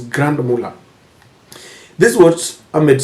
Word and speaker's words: Grand Mullah: At least I pronounced it today, Grand Mullah. Someone once corrected me when I said Camp Mullah. It is Grand Mullah.